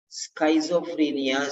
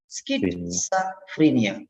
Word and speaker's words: schizophrenia: example um there are many students who say schizophrenia schizophrenia schizophrenia schizophrenia like the different effect s schizophrenia because the spelling is like that but the pronunciation is skit skit is schizophrenia schizophrenia schizophrenia this is the pronunciation but many people so